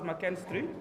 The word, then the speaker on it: McKinstry: For a start, the surname, despite the K-I-N, is McKinstry. It's pronounced as McKinstry.